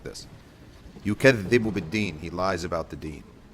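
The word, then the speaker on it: بِالدِّينِ: Yukadhibu bid-deen, he lies about the deen. Yukadhibu bid-deen. And you notice I said bid-deen, not bil-deen, even though there's a lam here.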